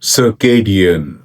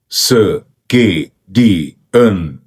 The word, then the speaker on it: circadian: circadian circadian circadian sir kay dee un sir kay dee un sir kay dee un